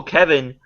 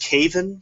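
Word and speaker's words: Kevan: around what what needs to happen is Uncle Kevin needs to get the High Sparrow assassinated and get another actually it's actually pronounced Caven but okay and he should get the High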